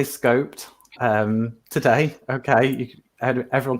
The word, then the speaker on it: SCoPEd: knows where they go but also the pronunciation of it some people say scoped some people say scoped we're going to go for scoped Peter and I have decided anyway the panelists do whatever